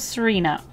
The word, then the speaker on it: Tsarina: Serena is, I hope that I'm pronouncing that right. Is it like tsunami where you don't pronounce the T? I'm gonna go with Serena.